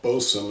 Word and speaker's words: boatswain: Louisiana beer reviews boat Swain or bosom is really how it's pronounced boatswain double IPA India